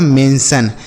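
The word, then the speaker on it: mention: उसके बाद एम इ एन टी आई ओ एन। तो एम इ एन को हम पढ़ेंगे मेन और टी आई ओ एन को हमने बताया सन। तो यह लिखा गया है मेंशन। क्या लिखा गया है मेरे भाई? मेंसन। तो टी आई ओ एन को क्या पढ़ना है? सन पढ़ना है।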